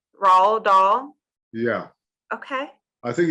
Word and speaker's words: Dahl: It's sort of, it's a bit of an extended A, so Dahl.